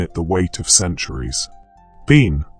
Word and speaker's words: bean: Bean, spoken as ban, is simply the Irish word for woman.